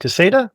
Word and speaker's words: Caseta: It's pronounced Caseta. I hear people say Caseta all the time. They're wrong.